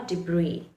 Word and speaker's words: debris: It remains silent in words like island, isle, or debris.